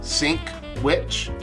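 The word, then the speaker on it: Sinkwich: I'm actually going to phonetically sound out his name. It's literally called Sink Witch.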